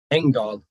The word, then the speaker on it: Engdahl: Per Engdahl, Engdahl, E-N-G, right.